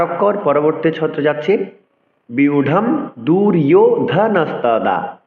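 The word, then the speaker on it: ব্যূঢ়ং: বিউঢ়ম দুর্যোধনস্তদা ৮। সংস্কৃত শ্লোক উচ্চারণে অন্তস্থ জকে ইয় উচ্চারণ করতে হবে, বিউঢ়ম।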